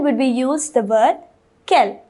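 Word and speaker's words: quelles: this interrogative adjective it kell kell kell and kell they're all pronounced the same they all have the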